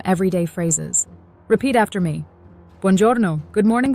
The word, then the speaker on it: buongiorno: Buongiorno, good morning, buongiorno. This means good morning. Notice how we stress the second to last syllable, buongiorno.